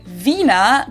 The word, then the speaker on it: Wiener: in German we say Vina the German W is pronounced like an English V and it usually refers